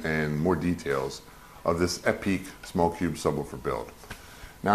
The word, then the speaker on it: Epique: and the construction and more details of this epic small cube subwoofer build now i know it's pronounced epic i'm just trying to like add a little